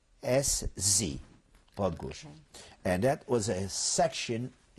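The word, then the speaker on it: Podgórze: It's Podgórz, Podgórz.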